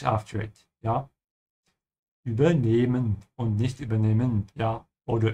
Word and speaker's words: übernehmen: And notice the dash after the E, which means you have to stretch the E when you speak it.